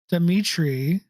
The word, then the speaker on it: Dimitri: His father is Dimitri.